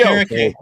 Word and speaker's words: Okereke: Okereke. Hard to say his name. How do you say his name? Bobby Okereke.